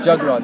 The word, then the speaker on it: Jagraj: Jagraj, like a jug and then the Raj. Jagraj.